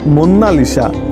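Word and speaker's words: Monna Lisa: কেউ একে মোনালিসা বলে কিন্তু ইটালিয়ান ভাষাতে এর সঠিক উচ্চারণ হলো মুন্নালিসা যার অর্থ আওয়ার লেডি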